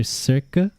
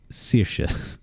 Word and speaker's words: Saoirse: It's either Serca or Sirsh I misspelled the second one. It's Saoirse. That's how you That's how you spell it. You might know it from Saoirse Ronan. Or some other It is Yeah. Irish names are kind of like French names where the spelling is barely a recommendation.